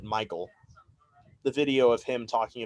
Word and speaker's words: Mikael: the way apparently i always thought it was mikael but i was watching that video and he pronounces it michael the video of him